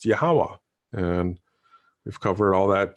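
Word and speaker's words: Yahweh: in the Holy Scriptures yhw H which is pronounced yahwah and we've covered all that too so hopefully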